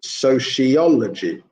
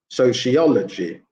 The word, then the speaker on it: sociology: expectation expectation and finally for number four it's the third syllable that is stressed again so it would be sociology sociology so third syllable stress sociology yeah okay so if